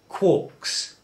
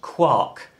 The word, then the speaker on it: quark: that protons and neutrons are made up of quarks a proton has two up quarks and one